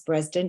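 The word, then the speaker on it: Bredesen: Dr Dale Breslin and spelled breezed in b-r-e-s b-r-e-s-e-d-e-n but pronounce bresden Dr Dale bresden he's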